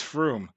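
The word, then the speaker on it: Frome: on I am wrong now if it's from I think it's Froome this was in another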